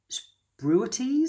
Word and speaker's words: spruitjes: to read this spruities s p r u i t j e s spruities is how you say that uh anyway that was